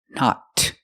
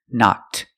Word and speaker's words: knocked: knocked over the cup we hear the ed sound knocked making the T sound knocked I knocked I knocked